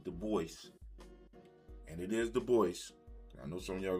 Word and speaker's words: Du Bois: Du Bois, and it is Du Bois. I know some of y'all going to be trying to correct me. It's Du Bois.